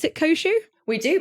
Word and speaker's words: Koshu: koshou I mean okay do we pronounce it kosu we do pronounce it kosu also you're going to have to forgive me